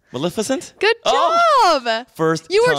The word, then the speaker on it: Maleficent: oh me too Maleficent you said it right Maleficent good job first you were trying to mess